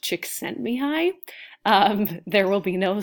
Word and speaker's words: Csikszentmihalyi: he's from Eastern Europe that last name is pronounced Csikszentmihalyi there will be no spelling test on that